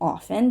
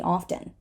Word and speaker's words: often: And this word can be pronounced both ways. It can be often, that is the way I pronounce it, but a lot of Americans say often. Both are fine. Pick whatever you like.